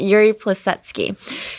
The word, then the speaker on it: Yuri Plisetsky: Am I pronouncing this right? Yuri Plisetsky.